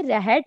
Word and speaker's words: रहट: राहत, आप रहट है बेट, एक्चुअली इसको आप राहत भी बोल सकते हो, बट जो प्रोनाउंसिएशन है उसके अकॉर्डिंग ये रहट होता है, ठीक है।